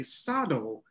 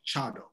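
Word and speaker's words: 茶道: is that sometimes the word for t is pronounced sa like um so a lot of people say sado i think many people of my tradition the urasinke tradition we say chado so sometimes you hear it both ways in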